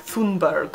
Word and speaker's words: Thunberg: the name Thunder or she has that fabulous Swedish way of pronouncing it that I can do it's like foon Berg or something my name is a